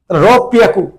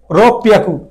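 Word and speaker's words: ろっぴゃく: বলে ছোট সুদে দিছে, রব পিয়াকু উচ্চারণ হবে, রব পিয়াকু। আবার বলি 600 ক্ষেত্রে ব্যতিক্রম, 600 বলতে হবে হ্যাঁ রব পিয়াকু, রব পিয়াকু, রব পিয়াকু, যেটি ব্যতিক্রম এটি মনে রাখেন।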